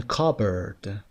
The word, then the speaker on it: cupboard: lettering English for example in cupboard you don't pronounce the P Dame covered was silence